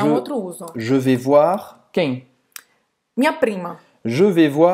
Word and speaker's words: voir: Então, o I em francês é como wa, wa, voir. E o R na garganta, que fica na garganta, voir. Voir. Então vai terminar a pronúncia com esse R aqui na garganta.